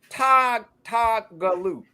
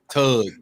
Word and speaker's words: Tougaloo: Is that Tougaloo? Tougaloo. Tug is what I usually get. No, you thick tongue bastard. That's not Tougaloo.